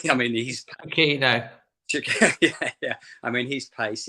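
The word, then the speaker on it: Chiquinho: Break someone like Podence, or as you say, and I keep pronouncing his name wrong, sorry, Chiquenzo. I mean, he's Chiquino.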